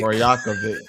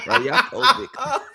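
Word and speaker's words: Rajaković: Rajakovic. Nice. That's how you say it, broski. Rajakovic.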